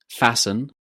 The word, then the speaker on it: fasten: Words that end in FTEN or STEN. do we pronounce the t sound in these words too? Well, no, you can't. Here are some examples. Listen, fasten, soften, christen. Did you hear a t sound in these words?